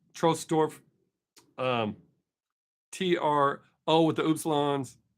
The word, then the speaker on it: Trosdorf: outside of Bamberg uh I think it's actually pronounced trolls trostorf um t-r-o with the